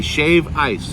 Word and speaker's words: shave ice: ooh now do you does it sound like I left the D out like I should be saying shaved yes I looked into this they don't say shaved they say Shave Ice oh my gosh oh